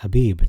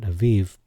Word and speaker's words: Habib: so that's why I lean towards the uh Habib being pronounced as abib not Aviv as well just the